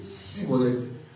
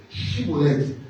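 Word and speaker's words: shibboleth: L'environnement dans leur environnement il savaient pas prononcer les mots chibolet, il prononçait sibolette. Alors pour qu' qu'on les laisse vivre, il faut qu'il faut qu'il prononce chibolette mais il disait cibolette.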